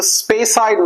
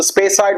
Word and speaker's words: Speyside: Now let's talk about the Speyside whiskies.